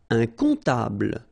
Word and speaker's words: comptable: Un comptable, so OM, remember it goes like on, all right? And then, strangely, this P is not pronounced.